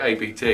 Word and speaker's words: ABT: I know I pronounced it wrong. It's apt. Well, most people in England call it ABT. It's hard to get their head round. It is actually apt is the official name, but either is fine.